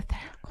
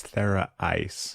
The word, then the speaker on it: Thera Ice: Theracle, am I saying it right? No, I'm not. Thera Ice. That's How did I get the Theracle? It looks like Theracle. Thera Ice. But it's Thera Ice.